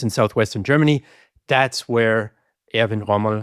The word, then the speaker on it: Erwin Rommel: That's where Erwin Rommel, uh Erwin Rommel, if I want to use the uh the English pronunciation, is born.